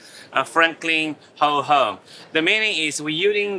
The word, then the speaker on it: Franklin WH: So our name's pronounced as Franklin Ho Home.